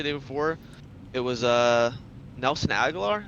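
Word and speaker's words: Agholor: before it was uh Nelson agar that's how you say his name he was uh Lamar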